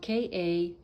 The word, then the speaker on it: Kaleshwar: he's still very much around, and his name is spelled K-A-L-E-S-H-W-A-R, Kaleshwar, and his ashram is in Penukonda, which is spelled P-E-N-U-K-O-N-D-A, Penukonda, in Andhra Pradesh state in India.